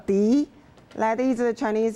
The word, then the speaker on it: 笛: Okay, this is what we call Di. That is the Chinese pronunciation for flute.